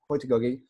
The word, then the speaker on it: heutagogy: uh well i mean i was raised in the back streets of nottingham in england so in the slums so i i say hoytigagi but um a linguist